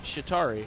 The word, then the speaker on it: Chitauri: tari the sitar he's the Chitauri yeah that's how you say it right the